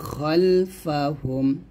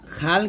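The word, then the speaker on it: خلفهم: বাইনা আইদিহিম আইদিহিম ওয়ামা খলফাহুম দেখুন এখানে ওয়ামা খাল কিন্তু না আমরা অনেকেই উচ্চারণটা খাল দেখি বাংলা উচ্চারণটা এখানে সঠিক ভাবে দেওয়া আছে খলফাহুম হবে একসাথে হবে আবার বলেন আবার এখানে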